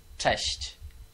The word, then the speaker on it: cześć: It's simply cześć. Test. Cześć. Chest.